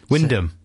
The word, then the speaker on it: Wymondham: Big Jim at work in Wymondham. Wyndham. No, it's not spelt like that. Yeah, but sometimes things are spelt in a different way to that. The pronunciation. It's the fourth one down. Wymondham.